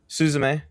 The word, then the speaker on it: Suzume: Suzume.